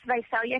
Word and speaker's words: Visalia: exactly what where is Visalia is am I pronouncing it right Visalia California is that corre yeah it's velia California we actually are a little